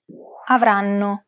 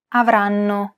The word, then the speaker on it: avranno: The first N is held for roughly the same amount of time as all the other syllables.